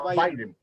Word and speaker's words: Biden: Bueno, así se escribe Biden, pero se pronuncia Biden.